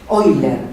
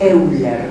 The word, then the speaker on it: Euler: Euler, se escribe Euler.